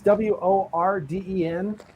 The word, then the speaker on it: Worden: And this was from a spot called, now I'm not sure how they pronounce it. I'm going to say Warden. It's Worden.